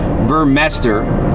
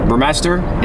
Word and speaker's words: Burmester: i bought this car i would have imagined it's pronounced burmester burmester they come standard with bose